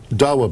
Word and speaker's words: Dawa: Speaking of Ambassador Bremer, the LA Times says today that they say that a member of the, is it Dawa? Is that how that's pronounced? Yes. The Dawa party, who was at